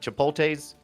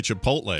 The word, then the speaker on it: chipotle: uss cerritos is that is that chipote's ship is that right that's not even the right way to say chipotle oh it's the one